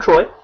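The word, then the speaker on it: Troi: a decent point there ma'am um well I'm Troy nice to meet you um yeah so how do you spell that t r o i that's a weird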